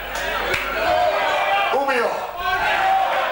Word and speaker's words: Umeå: Umeå? How do you say it? Umeå.